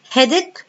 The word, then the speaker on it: headache: Headache اللي هو الصداع، والCH هنا pronounced K.